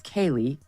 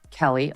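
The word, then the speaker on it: Keleigh: miles and his wife whose name I think is Kaylee Keely will listen to it Kelly okay Kelly but it's spelled weird anyway so the ad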